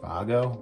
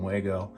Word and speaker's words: Wago: lever nuts I think the actual brand name is pronounced Vago but everyone calls them wgo um the series I